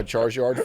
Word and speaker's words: Charizard: You trade him a Charizard for Rhymes with Marzyard.